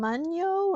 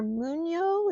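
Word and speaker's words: Mungyo: Now these are from, I think you pronounce them Munyo or Munyo. It's M-U-N-G-Y-O.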